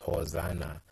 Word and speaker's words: Hosanna: Faith now and is derived from the phrase hosiana it is however pronounced Hosanna and is used in the